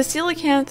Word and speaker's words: coelacanth: The coelacanth, and yes, that's how you pronounce the name, is one of the long-standing rare fish in the Animal Crossing series.